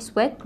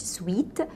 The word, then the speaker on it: sweat: no sweat طبعا نطقها صحيح sweat مش sweet، هي نطقها sweat.